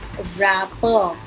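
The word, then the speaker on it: wrapper: इसमें W silent है, रैपर रैपर।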